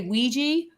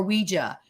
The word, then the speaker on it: Ouija: People say Ouija or Ouija. Now, you could say because of pop psychology now or say pop pop pop culture now. You could say Ouija. Everybody says it now. It's the vernacular in our in our culture. It's really pronounced Ouija because what they did